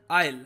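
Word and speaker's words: isle: इनमें से किस देश को कहा जाता है एमरल्ड आइल? जो ये वर्ड है ना ISL, इसको आइसल नहीं कहेंगे हम, ये इसको हम प्रोनाउंस करते हैं एमरल्ड आइल।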